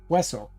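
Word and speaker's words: hueso: Yeah, Wessle. H is silent.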